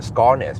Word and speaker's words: Skarnes: Because that's how we pronounce it in Norway, Skarnes. We just say Skarnes.